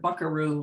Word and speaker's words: buckaroo: is a retired buckaroo he says the word buckaroo like this bakery with the accent on the a like they used to say it in nevada nope in nevada where